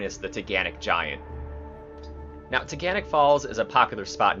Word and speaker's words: Taughannock: you say it yeah in case you're wondering about the pronunciation think Don't Panic it's teganic a short drive from